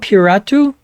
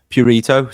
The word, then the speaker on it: Purito: Puratu? Purito. So it rhymes with burrito, but with a P.